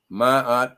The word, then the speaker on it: Ma'at: Ma'at Sankofa, Ma'at pronounced Ma'at, means truth, and Sankofa means look back.